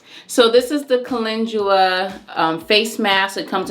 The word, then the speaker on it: calendula: me tell y'all something i didn't know until like literally yesterday how to pronounce that i was calling it candle and my girlfriend kylie's like no food was calendula i'm like oh okay